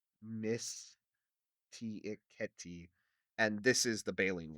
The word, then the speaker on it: Mysticeti: While we have Mysticeti, I'm trying to pronounce it Latin-y, Mysticeti, and this is the baleen whales.